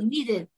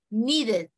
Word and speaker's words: needed: To need. Agrega una sílaba. Yes. Needed. Needed. El pasado agrega una sílaba.